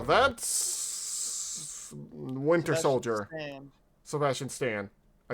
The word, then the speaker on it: Sebastian Stan: Sebastian Stan.